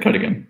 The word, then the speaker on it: Cuddigan: Is that how you pronounce it? Yep, Cuddigan.